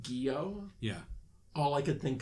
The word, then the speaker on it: Gyo: Or Gyo, I think it's actually pronounced, the one with the I fish.